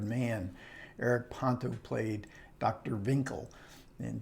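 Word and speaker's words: Winkel: eric ponto played dr vinkel and joseph cotton always mispronounces it as dr winkle and he has to correct winkle and he's really good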